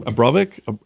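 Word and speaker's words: Abramović: Abramovic.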